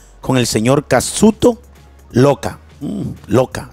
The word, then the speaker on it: Ioka: Loca, así se pronuncia. No sé cómo se pronunciará en Japón, pero en español se pronuncia Sakuto Loca.